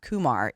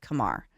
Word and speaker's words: Kumar: I have been informed it's not Kumar it's Kamar yeah everyone thought it was